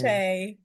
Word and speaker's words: Shae: So, Shay, before we go so deep, uh, permit me, am I pronouncing the name properly?